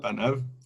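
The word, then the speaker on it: פניו: Panav, non Panav, pardon, Panav. Le Donc, yud ne se prononce pas donc sur sa face.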